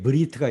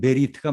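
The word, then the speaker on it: בְּרִית: 그래서 현대 히브리에서는 주로 브리트 이렇게 번역하고요. 이거는 아슈케나즘이라고 하는 사람들의 언어 습관에서 유래된 겁니다. 그런데 엄밀한 의미에서 세파르딤이라고 하는 사람들 이제 그러니까 중세 이전 그 고전적 발음은 베리트가 맞아요, 사실은.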